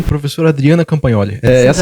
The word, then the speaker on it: Campagnoli: que especiais, professor Ivo Demiati e professora Adriana Campagnoli. Essa é a pronúncia correta.